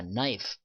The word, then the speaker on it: knife: K 발음이 안 납니다. 자, knife 라고 발음했을 때 요 발음은 FE가 뭘로 바뀐다?